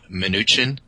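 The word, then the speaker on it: Mnuchin: purpose of this discussion it's Steve minuchin oh uh it's actually a Russian Jewish name uh derived similar to manim and so that's how it's pronounced that's very interesting what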